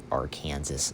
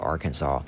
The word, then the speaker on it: Arkansas: Notre Dame, back on track, demolishes Arkansas. No, I know that's not how you say it. Arkansas.